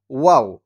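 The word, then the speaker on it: واو: না নি নু ওয়া ওয়াও ওয়াও টা হচ্ছে মুখ গোল করে উচ্চারণ করতে হয় ওয়াও ওয়াও টা হচ্ছে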